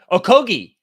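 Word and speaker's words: Okogie: doing that uh okay so g-h-e is a g-h-e-e is a hard G okogi isn't Gordon injured currently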